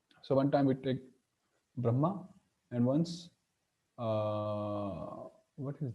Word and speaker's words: Brahma: this one Brahma so naturally M sounds double you know Brahma Brahma we stop at brah and then we speak again ma Brahma so sis are very